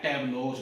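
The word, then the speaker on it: tableaux: अब ये भी आज तक किसी उसमें रूल में आया नहीं कि एक्स लगे, लेकिन बोलेंगे प्रोनाउंसिएशन क्या है, टैब्लोज बनेगी। टैब्लो, टैब्लोज, तो एक्स लगेगा।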